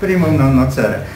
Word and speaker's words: primum non nocere: Natomiast jeden apel tylko bym miał jako zwariowany filolog klasyczny, żebyśmy poprawnie wymawiali primum non nocere, długie e. Dlatego, że nawet pan Adam Sandauer, rzecznik praw obywateli, tych obywateli pacjentów, mówi ze złym akcentem.